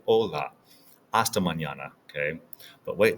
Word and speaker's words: hola: see you tomorrow now remember the H here is silent we don't say the H so it's not hasto it's aego like an Ola We Don't say hola we say Ola aam Manana okay but